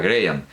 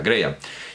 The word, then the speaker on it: Graham: Angus Charles Graham, se pronuncia Graham, que la H no se pronuncia, Graham.